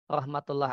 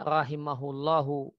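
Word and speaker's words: رحمه الله: muridnya Ibnu Abbas beliau Rahmatullah alaih nya berarti harusnya bacanya rahimahullahu titiknya itu keliru kalau Ya bisa saja kita baca rahmatullohi Nah itu kalau rahmatullohi semestinya ada Alaihi Mujahid mengatakan layanan tidak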